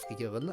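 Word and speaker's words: Frieren: insist on pronouncing Frian's name the proper German way. I mean, if I can pronounce her as Frier, I will pronounce her as Frier.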